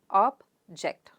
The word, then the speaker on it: object: word object object and the second syllable gets stress that means jaw sound